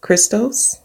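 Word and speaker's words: Χριστός: merits of her Son, Jesus Christos, that's how it's pronounced in Greek, or Jesus Christ.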